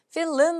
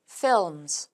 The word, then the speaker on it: films: film 아니고요. films 이렇게 읽어주셔야 되고요.